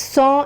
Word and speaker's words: cent: 100 is pronounced as saw and is written as CANT.